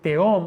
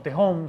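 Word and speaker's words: תהום: Y también esta palabra ahí en hebreo de tehom o tehom, según si pronunciamos no la H, está perfectamente refiriéndose a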